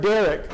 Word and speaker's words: derek: It the way is the word derek, like the name.